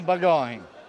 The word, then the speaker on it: bagòn: Allora, questa festa, mi può dare la pronuncia giusta? Festa de Bagoin.